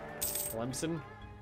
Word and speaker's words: Tlemcen: Clement is pronounced with S, not K. Tlemcen.